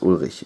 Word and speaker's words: Ulrich: Sorry, there's some language mangling because I'm German, and the CH would be pronounced Ulrich. This name would be pronounced Ulrich in German.